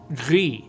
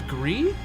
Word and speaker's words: GRIS: I'm saying GRIS because that's how I learned how to pronounce it in French class. Actually, I should probably say GRIS if it's the French word.